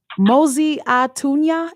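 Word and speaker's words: Mosi-oa-Tunya: And the first person to correct me with how to actually pronounce the original name of Victoria Falls, Mosi Atunya.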